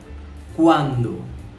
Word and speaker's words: cuando: Bahasa Spanyolnya cuando. Silakan diulangi lagi, cuando. Kita pernah belajar pelafalan huruf C yang berada sebelum huruf vokal U, A, dan O. Jadi huruf C tersebut dibaca K.